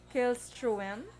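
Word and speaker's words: Källström: So, ang spelling to sa ilaya, dumaya mo ng duwa ka pintok sa babaw. Tapos, pronounce siya as wem. Mo nang gusto ko mabalaan. Thank you so much, Miss Emma. So, mag-pronounce yun ng Killstrom.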